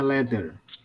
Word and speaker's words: leather: Jadi bacanya leather. Ini loh, leather. Tapi biasanya R-nya mati, leather.